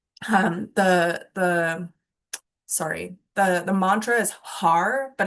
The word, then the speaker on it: Har: The sorry, the mantra is har, but it's pronounced had because we're flicking the tongue off the roof of our mouth.